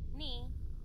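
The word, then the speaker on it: 二: Well, if you think about it, number two is pronounced ni, and then you put yan at the end of it, so you get nyan.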